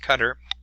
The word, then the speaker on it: Qatar: met in Doha Qatar that's how you pronounced that Q a ta are that country it's pronounced Qatar so they began meeting